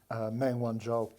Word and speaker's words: Meng Wanzhou: You pronounce that one for me. Meng Wanzhou.